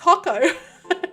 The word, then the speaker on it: hako: official account said hey just wondering how do you actually pronounce it and they're like it's hako so so does Taco so if you're wondering it's not hot girl it's hako I know that's a